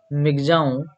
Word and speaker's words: Michaung: said that the severe cyclone storm Michaung pronounced Migjaon over west central and